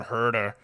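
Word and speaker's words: Huerter: I call him H like it should be pronounced as of the American Kevin herder herder the the shepherd um he moved to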